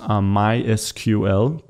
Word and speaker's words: MySQL: uh software such as MySQL or my SQL uh depending on how you want to pronounce that and then hooking that